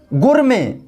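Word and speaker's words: gourmet: इन शब्दों में भी टी साइलेंट है।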